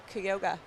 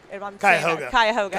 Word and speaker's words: Cuyahoga: And lane 8, Savannah Cosin from Cuyahoga. Cuyahoga, thank you.